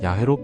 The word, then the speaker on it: 야훼: 그들은 다른 고대 문헌들을 비교하고 언어학적 분석을 통해 연구한 결과 야해가 가장 유력한 발음이라고 결론지었습니다.